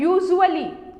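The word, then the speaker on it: usually: यूजुअली को pronounce करते समय बहुत सारे लोग मिस्टेक करते हैं, उसको यूजुअली प्रोनाउंस करते हैं, बट ये गलत प्रोनाउंसिएशन होता है। यूजुअली को यूजुअली, जो इसका एस है उसको जा की तरह यूज करते हैं यूजुअली।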